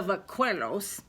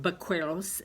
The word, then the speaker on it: vaqueros: It's pronounced with a B, but it's actually spelled with a V. But it just is a fancy word, vaqueros, which means a Spanish cowboy.